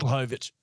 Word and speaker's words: Blachowicz: Blachowicz. Yeah, he fuck, I butchered that.